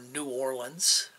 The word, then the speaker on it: New Orleans: I went into the security contracting, and I worked for a company down in New Orleans, Louisiana, or New Orleans, as it's properly pronounced, after Hurricane Katrina.